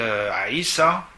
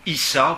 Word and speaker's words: Aïssa: donc quelqu'un qui s'appelle Aïssa, ou Issa, vous entendrez souvent le nom Issa parce que la lettre Aïn en arabe se prononce pas tellement en Occident.